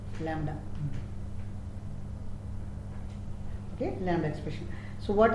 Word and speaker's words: Lambda: okay lamb expression there is no pronunciation of B Lambda okay Lambda expression so